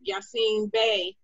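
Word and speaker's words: Yasiin Bey: to open for legends like rakim slick rick yassine bay am i pronouncing that right i always have issues with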